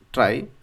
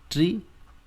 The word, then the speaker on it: trie: right so data structure try it could pronounce in two different ways right some people also say tree right and some people also say try okay so you can